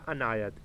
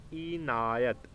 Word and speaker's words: عنایت: Question آتا ہے۔ پہلا عنایت، اینایت، الف کے نیچے زیر، عین کے اوپر زبر اور نون کے اوپر بھی زبر، اینایت۔ اس